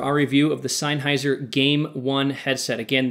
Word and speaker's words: G4ME ONE: review of the seiser game one headset again that's game with a four replacing the a it's really leite to